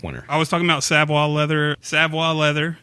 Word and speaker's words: Savoy: mean he does artwork on his stuff so Savoie leather which is spelled Savoy SAV oh why leather com and